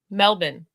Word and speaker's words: Melbourne: wait say it again melbin like Melvin melin melbin I think